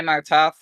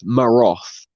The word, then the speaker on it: Martov: Hi, Martov. How are you? Hey, good afternoon. Hello, Oh wow, it's pronounced Martov. I've been calling him Maroth for like ever. Oh, you missed Oh, the well, T there.